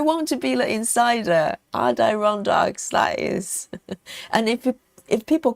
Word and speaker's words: Adirondacks: So that was, I think that's what I said in the very beginning, because it sounds closer to the way it's spelled, because it's A-D-I-R, isn't it? So it sounds more like Adir.